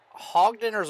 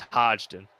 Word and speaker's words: Hodgdon: all right last question is it hog dinners at Hodgdon it's Hodgdon Hodgson okay so I've been